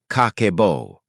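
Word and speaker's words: 家計簿: It is called Kakeibo, pronounced kah-keh-boh.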